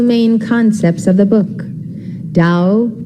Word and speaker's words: Tao: concepts of the book Dao meaning Wei it is spelled t-a-o der meaning virtue or